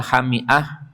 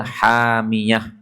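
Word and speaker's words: حامية: Boleh juga selain dibaca hami'ah, juga boleh dibaca hamiyah. Kalau hamiyah itu artinya panas. Dari 10 qiraat itu lebih banyak yang membaca hamiyah daripada yang membaca hami'ah.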